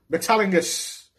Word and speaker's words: Metalingus: Metalingus is that's how you fucking pronounce it.